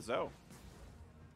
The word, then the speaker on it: Zoe: Good pick up there for the Zoe. That's how I pronounce Zoe. I just don't say the E.